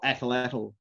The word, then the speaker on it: atlatl: to javelin head, or atlatl head. Atlatl, yeah. And which I mispronounced incidentally. The tl sound is very difficult for people who don't speak Nahuatl.